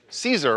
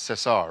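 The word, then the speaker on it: César: Um he was at the Ces- uh the Cesar Awards, we would say in English. I believe in French it's Cesar, right, Devon?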